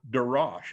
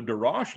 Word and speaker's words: Darash: And the next level is called Darash. It's you can spell it any way in English that you want to spell it, but it's Dalet Resh Shin. And so it's Darash. And so the Darash level is more of